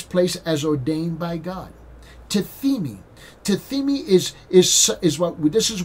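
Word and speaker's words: τίθημι: Now that word laid is the word in the Greek language, is the word tithemi. Tithemi, okay, is a funny word in the Greek language, is tithemi, and it's spelled T-I-T-H-E, T-I-T-H-E-M-I.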